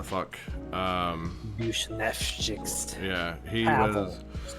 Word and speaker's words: Buchnevich: It's not Buchanan, it's like Buznevich, whatever the fuck. Bushnevchik.